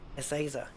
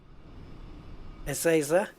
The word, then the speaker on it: Ezeiza: oh damn it right essayser you see in Spain the Z is pronounced like a th so it would be